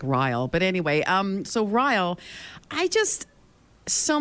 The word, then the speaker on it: Ryle: And I was reading, I actually pronounced his name as Riley in my head, and I don't know why, because I didn't like Ryle.